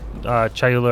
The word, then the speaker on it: Chayula: splinters or breaches of, we'll say Chayula or Kayula, however you want to pronounce it. It's Kayula, but yeah.